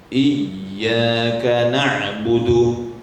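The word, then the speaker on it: إِيَّاكَ نَعْبُدُ: Jangan kuat kali iyyaka na'budu wa iyyaka nasta'in, berlebih-lebihan sehingga salah. Jadi membacanya itu normal saja. Iyyaka na'budu wa iyyaka nasta'in. Jangan sampai tak ada lah seperti tasydid. Jadi ahkamal hurufnya rusak. Iyyaka na'budu wa iyyaka nasta'in, tak ketat ya. Kurang ketat.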